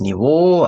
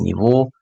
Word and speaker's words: Niveau: Ein hohes Niveau, also Niveau 프랑스어라서 발음이 Niveau입니다. 조금 길게 장음.